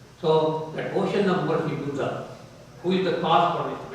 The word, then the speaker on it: Buddha: That when Buddha, he was you all pronounce Buddha's name? You can all pronounce it as Buddha. Or some people say in the United States Buddha.